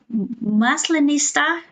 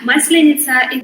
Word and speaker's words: Maslenitsa: Is it like a maslinista? No, yeah, wow. Maslenitsa, this celebration is usually on spring.